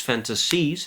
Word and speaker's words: fantasies: Stress issue with fantasies because again it's a word that would require the stress on the first syllable and not on the last. She says those fantasies has expired.